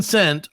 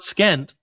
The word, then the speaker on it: scent: don't do that see is it the s in Scent or the C in Scent that is silent it's the C it's not skent SC you know is